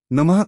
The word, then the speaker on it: नमः: पर थोड़ा जोर दें नमः अंत में विसर्ग अह के कारण हल्की ह की ध्वनि आनी नमः जप की गति ना तो बहुत तेज भागे और ना ही बहुत धीरे जपे।